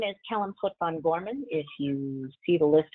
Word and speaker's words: Pot'Vin-Gorman: So my name is Kellyn Pot'Vin-Gorman. If you see the list of attendees on here, it's got my Klingon pronunciation.